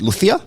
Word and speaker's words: Lucía: But technically, because you are Spanish, is it Lucía?